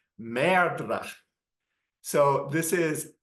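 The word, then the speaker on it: merdre: the stage and pronounce MRA so this is not just saying M you know he's actually kind of rolling the r as well and apparently in the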